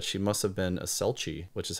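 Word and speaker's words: selchie: time confirms that she must have been a selchi which is how they spell it in here s-e-l-c-h-i-e but also disavows that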